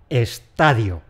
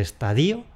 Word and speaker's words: estadio: Esta palabra tiene una sola pronunciación, que es . Lo de “estaDÍO” lo podemos ir tachando.